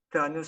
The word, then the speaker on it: Tanes: Cette expression désigne évidemment le jeûne d'Esther, Tanes étant la prononciation alsacienne du mot Tanit en hébreu.